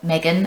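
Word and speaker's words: M3GAN: out quite soon after Megan, or Megan as the Americans say, even though Megan makes more sense as a pronunciation because you say 3 and she's got a 3 in her name.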